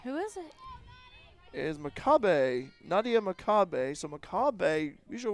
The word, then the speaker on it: McCabe: I've seen a McCabe, and way it's spelled MCCABE, but it's pronounced Makabe.